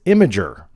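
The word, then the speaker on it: Imgur: The correct pronunciation is Imager.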